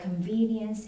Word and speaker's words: convenience: Yes, and the last one, convenience. Has the second Convenience. syllable.